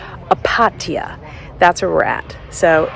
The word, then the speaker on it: Opatija: Okay, I finally got the name that I can pronounce correctly. It's Opatija.